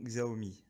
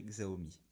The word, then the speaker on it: Xiaomi: présenter la domotique selon xao me xiaomi pour ceux qui veulent prononcé à la chinoise moi je dirais xao me dont vous voyez devant